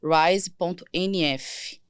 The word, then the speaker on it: Rise: dos chakras, é o @rise.nf. Se fala Rise, né, mas se escreve RISE.